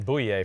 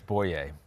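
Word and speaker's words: Bouye: to pronounce Booya boy I've been saying boo yay for a long time I know that yeah yeah it's boy yay but either way AJ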